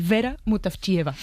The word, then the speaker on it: Vera Mutavcheva: Ayúdanos a pronunciar los autores. A ver, Georgi Gospodinov, sí. Zdravka Eftimova y Vera Mutavcheva.